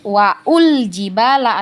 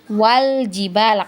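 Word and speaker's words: والجبال: tengah-tengah kalimat ya Nah maka kita bacanya bukan wa'ul jibala atau wa al jibala Tapi waljibala karena hamzahnya tadi ini sudah kita anggap tidak ada Jadi kita tidak baca lagi wa al jibala atau wa'ul jibala namun waljibala nah Contohnya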